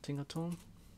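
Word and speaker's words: Tinkaton: same one team Canton Tinker tone Tinker tone that's how you say it take the four bucks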